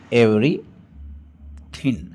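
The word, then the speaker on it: everything: एवरीथिंग I know एवरीथिंग इसमें जी silent है इसलिए इसको ऐसे बोलेंगे एवरी थिंग है ना ये थिन है ना जी साइलेंट रहेगा तो एवरीथिंग आई नो एवरीथिंग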